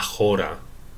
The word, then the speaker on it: chora: es polis que es la jora se escribe chora jora con c entonces hay mucha poción